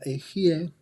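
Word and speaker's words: Ehyeh: Y luego tenemos Aleph Hei Yud Hei, que se pronuncia Ejie, que corresponde al mundo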